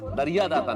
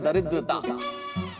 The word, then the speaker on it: दरिद्रता: दरिया दाता नहीं, इस शब्द का उच्चारण है दरिद्रता।